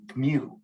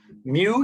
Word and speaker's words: mu: that you know and it's spelled mu and it's it's what a cat says a lot of you don't realize your your cat it speaks greek yeah because is that why cats say mew anyway i know bad